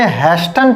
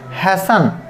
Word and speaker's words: hasten: ये लिखा है HASTEN, तो मोस्टली स्टूडेंट्स इसे हैस्टन पढ़ते हैं, कोई हास्टन पढ़ता है, लेकिन इसका राइट प्रोनाउंसिएशन है हैसन।